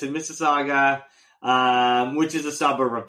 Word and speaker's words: Mississauga: because we had a little bit of trouble pronouncing the city initially, and we practiced last week, and it's, of course, in Mississauga, right?